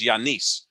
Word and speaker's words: Giannis: is legacy stuff for giannis or as i've learned now is the correct pronunciation of his name is yanis and i learned that from my good friend yanis it's like why a niece because i learned that